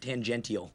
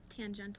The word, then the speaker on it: tangential: yeah nope sorry no I was wrong it's pronounced tangential okay yeah that's what I thought there's an ey in there classic no no it's also pronounced T tangental there's two pronunciate the